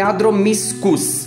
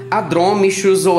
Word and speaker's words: Adromischus: pra gente relembrar que ch tem som de que ou cá como essa planta nesse gênero se escreve com ch então a pronúncia correta do ponto de vista botânico é a do místicos e não a drome xuzhou a drome xhosa ok